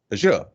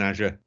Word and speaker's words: Azure: I did that in Azure, or Azure, wherever you're from and whichever way you pronounce it. We'll go with the American Azure because, well, they're the boss a little bit.